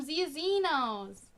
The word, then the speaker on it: Xia Xenos: Hello raiders, I'm ZEE-uh ZEE-nohs!